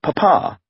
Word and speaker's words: papa: but would instead have called him papa with the emphasis on the second syllable in an early draft